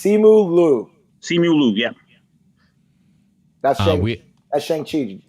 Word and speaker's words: Simu Liu: I think it's Simu Liu.